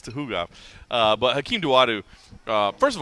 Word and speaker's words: Tukhugov: I always say Tukhugov. It's Tuhugov.